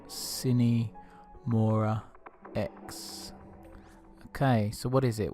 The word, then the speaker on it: Sine Mora Ex: for a game but I think you pronounced cine Maura X okay so what is